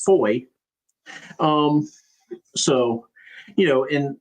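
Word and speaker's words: Fowey: And especially like the one river that they cross, it's spelled fo wy. And I'm like, "How would you pronounce this? Clearly the answer is foy."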